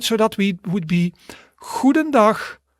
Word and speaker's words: goedendag: So that would be goedendag, goedendag, goedendag. Exactly. All right, so repeat after me. We're going to pronounce all 4 of them.